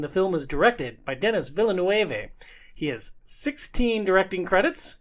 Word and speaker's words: Denis Villeneuve: Apparently I said his name wrong. I don't know if I should give you an opportunity to speak. It's Denis Villeneuve. Oh, jeez. Yeah. It's French. Yeah, so am I.